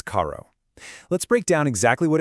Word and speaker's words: carro: Caho. In Portuguese, that double R sound is often pronounced like an H in English.